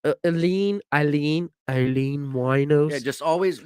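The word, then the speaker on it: Aileen Wuornos: was like aline eileen eileen wino just always whenever you want to think of how to pronounce her name just think of a a wino no a one-legged stripper her name is eileen oh that's a good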